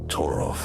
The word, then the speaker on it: Torolf: Torolf rhymes with wolf.